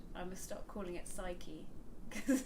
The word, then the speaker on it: Psyche: of them do, because the Greek pronunciation, you pronounce the P like psyche.